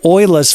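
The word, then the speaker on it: Euler's: We need to apply Oila's formula. Yes, it is pronounced nothing like it's spelled. Ola's formula relates a vector's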